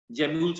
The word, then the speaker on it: gemmules: वो GE है, गैम्यूल्स, जेम्यूल्स बोलते हैं, गैम्यूल्स, GEMMULES ना, और गैमा कप GAMM।